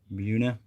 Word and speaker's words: Buena: troop a barracks headquarters or whatever and uh buena new jersey all right which is this number here which is actually pronounced who hung up on us little cowards buna and this is where the guy that arrested